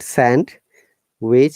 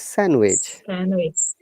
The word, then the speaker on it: sandwich: this word okay sandwich no d sound in sandwich it's not sand which is sandwich sandwich sandwich yes handsome sandwich a